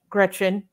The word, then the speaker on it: Greczyn: This is pronounced Greczyn.